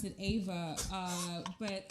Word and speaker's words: Ava: uh my mom's name is eva but i pronounced it ava uh but it's she's like because when she